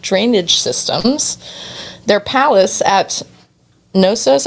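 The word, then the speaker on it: Knossos: Systems their palace at noos I think the K is silent k n o SS o s featured pipes made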